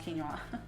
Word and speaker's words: quinoa: I think it's pronounced quinoa.